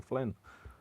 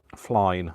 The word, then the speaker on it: Flynn: Because they can't say Flynn. Flyne, I usually get called a lot. Flyne. Like, yeah, no.